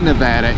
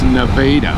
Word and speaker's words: Nevada: turns out if you're from Ohio it's not Nevada it's Nevada so my government was taking me to the Nevada which was skipping one of skipping my own